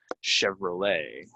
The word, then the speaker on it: Chevrolet: car might buy a Chevrolet right we don't say ET we say Chevrolet so again um a